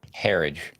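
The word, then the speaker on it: Herridge: How you pronounce her name? Herage.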